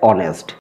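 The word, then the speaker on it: honest: যাক কি রয়েছে ড্যাশ অনেস্ট এখানেও কিন্তু এইচ কিন্তু সাইলেন্ট থাকছে তাই আমরা কি করব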